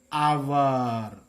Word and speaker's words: hour: Here, our or hour. We know that in it, H is silent. So, we should pronounce as our.